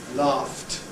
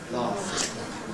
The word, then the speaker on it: laughed: F is voiceless. So we add T. Laughed. Laughed.